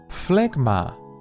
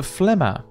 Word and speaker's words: Phlegma: Phlegma. Yes, shockingly not a phlegma, right?